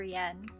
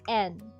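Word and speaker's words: 円: In English. In English we say yen. In English we say yen. But in Japanese it's read as n. Okay. It's the root of evil. You might say that. It depends on who holds it. But it's N. Okay. It's N. We don't say yen, but we say N. N. And yeah, it doesn't have um it doesn't have the Y sound.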